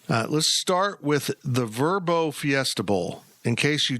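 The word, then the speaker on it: Vrbo: go around here uh let's start with the verbo Fiesta bow in case you don't want to stay in a hotel and you want to stay in someone's rental it's vbo it's verbo it's verbo is it yeah the Tim TBO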